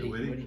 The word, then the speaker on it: Whitty: Is it Whitty or is it Witt? Sam Whitty? Yeah. Whitty.